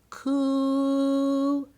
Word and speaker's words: coup: he was called koops it was called a coup stick you say it like this cool but that was all